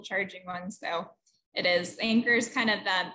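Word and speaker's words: Anker: uh really quick on the a you say anchor and it's i've been pronouncing it ankar for some reason but i know ross has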